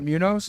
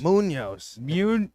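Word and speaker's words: Muñoz: knows in fifth game you say you say it like Ryan Moore did Munos it's not Munos Munoz come on are you serious Munoz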